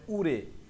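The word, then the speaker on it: 올해: থোয়ান সাহেব উত্তর দিতেছে, উরে মানে এই বছর, রিউলের পরে হিউত থাকলে, রিউল বা ছেমের পরে হিউত থাকলে, রিউলটা হিউতের জায়গায় যে উচ্চারণ হবে, তাহলে সঠিক উচ্চারণ হবে উরে, মানে এই বছর, ইওয়াল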